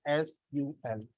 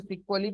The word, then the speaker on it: SQL: एस कू एल तो बहुत से लोग आज भी इसे प्रोनाउंस क्या करते हैं सीक्वल प्रोनाउंस करते हैं क्योंकि वो प्रोनंसिएशन कहां से आया था इसका जो सब पहला नाम था वो सीक्वल ही था ठीक है स्ट्रक्चर्ड इंग्लिश